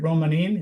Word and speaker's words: Romanin: Is it Romanim? Is that how it's pronounced? Um, you're really close to the original Italian pronunciation.